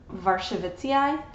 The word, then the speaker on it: Warscewiczii: I think that you would pronounce its Polish name Warscewiczii.